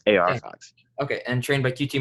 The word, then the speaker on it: AR Fox: He is trained by it's pronounced AR Fox, right? Yes, AR Fox.